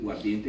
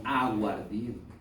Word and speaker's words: aguardiente: Pero joven, acá no se dice guardiente, sino aguardiente, ¿cierto?